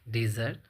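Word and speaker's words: desert: तीन वर्ड सख लिए डिजर्ट डिजर्टर डिजर्स तो अब आप देखिए आगे यहां पर लिखा है स्पेलिंग सेम है स्पेलिंग सेम है पर इसका आप उच्चारण कैसे करेंगे डेजर्ट अब इसका मीनिंग अलग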